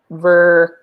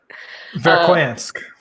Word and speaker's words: Verkhoyansk: Fahrenheit in a town called, I'm going to pronounce it poorly, Verkhovnik. Verkhoyansk.